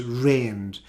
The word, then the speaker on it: reigned: now you can see this word here is the same pronunciation as the word for the weather when we have rain past tense of terrain is reigned and the pronunciation is